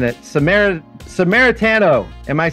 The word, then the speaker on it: Samaritano: Samaritano. Am I saying it right, Lou? Perfect. I don't think that's perfect. The second time. Yeah, Samaritano.